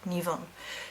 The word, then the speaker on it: Nemain: I do the goddess Nivun. Now it is spelt Nemain and pronounced Nivun.